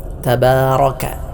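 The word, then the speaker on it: تبارك: ബിസ്മില്ലാഹി റഹ്മാനി റഹീം ഒന്നാമത്തെ പദം തബാറക്ക തബാറ റ എന്നാണ് ഉച്ചരിക്കേണ്ടത് ഇവിടെ പലരും തബാറ റ എന്ന് മൊഴിയാറുണ്ട് അത് ശരിയായ രൂപത്തിലുള്ള ഉച്ചാരണം അല്ല റന് രണ്ട് അവസ്ഥകളുണ്ട് ഒന്ന് തഫ്ഹീം തടിപ്പിച്ചുകൊണ്ട് ഉച്ചരിക്കുക രണ്ട് തർക്കീത്ത് നേരിയതായ രൂപത്തിൽ ഉച്ചരിക്കുക റാഇന് ഫത്ഹ് വരുമ്പോൾ തഫ്ഹീം അഥവാ തടുപ്പിച്ചു കൊണ്ടാണ് ഉച്ചരിക്കേണ്ടത് അതിനാൽ തന്നെ തബാറ റബാ ദാലാണ്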